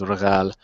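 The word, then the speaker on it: Rigel: The other thing that I like to do is because we got uh um the proper pronunciation in Arabic is regal is uh Orion's foot.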